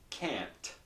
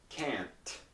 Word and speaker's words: can't: pronounce it this way the T is not released so I say can